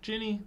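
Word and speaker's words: Ginny: for who kidnapped Guinea Jenny I really don't know how to say her name um it's Jenny just think of Jen is Jenny okay whatever kidnapped her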